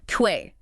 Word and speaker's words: quay: Like K-E-Y, the key that opens a door. Exactly like key.